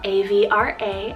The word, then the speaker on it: Avra: Next is the name Avra, spelled A-V-R-A, Avra, and this one's the goddess of breeze and cool air.